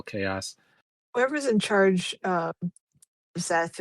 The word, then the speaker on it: Szeth: Whoever's in charge uh Zeth right now is very dangerous sounding.